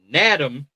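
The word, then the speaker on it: Nadame: North Carolina State, and thank God this is an N because I almost said it wrong. It's spelled like Madam. Nadam Tucker with an N of Western Michigan.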